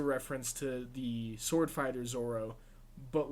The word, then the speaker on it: Zoro: I do want to give a shout out to the commenter who told us that it was actually pronounced Zoro and not Zolo and like the weird translation stuff between Japanese and English translations at the time.